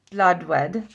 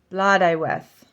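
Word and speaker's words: Blodeuwedd: Morgana triple goddess the war triple goddesses okay blood wed I always say blood wed let's see what it is blood oh no blood I weth oh that's not okay blood ieth BL I we interesting BL I we hm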